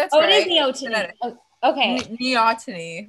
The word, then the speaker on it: Neoteny: Neoteny. Like, Neoteny. I need to put like the phonetic like pronunciation. Like, think Neoteny. Like your knee and then your knee ought to and then me.